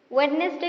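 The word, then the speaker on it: Wednesday: तापर लिखा अछि वेडनेसडे पिला माने कहू तो डी सेठी आमे साइलेंट थाए।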